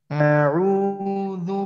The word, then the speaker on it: أعوذ: أعوذ. হ্যাঁ, যেন আটা যেন সোজা হয় আর ওইখানে শক্ত হয় হামজায়ের আওয়াজটা। আমরা যে বাংলা স্বর আয়ের